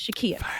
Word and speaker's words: Shakia: I keep forgetting it's Shakia. Shakia, my pronunciation is so bad.